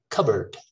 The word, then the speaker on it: cupboard: very neutral today tonight the next one cupboard that's a tricky one i wanted to put that there the second part is a schwa cupboard cupboard not cupboard okay cupboard occur a